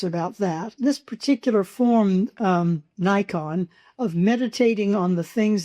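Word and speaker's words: 内観: And Nikon is a Japanese word, 2 syllables, which means looking inside or self-reflection.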